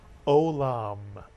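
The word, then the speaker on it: עולם: How about this word that begins with a silent letter, the silent ayin? Don't read it as a Y. It's a silent letter. Two vowels, two syllables. The word is olam, mitsuyan.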